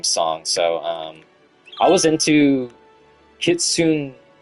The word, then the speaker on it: Kitsune: Pronounced Kitsune. Kitsune.